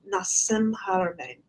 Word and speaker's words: Nassim Haramein: Nassim Haramein. Nassim Haramein.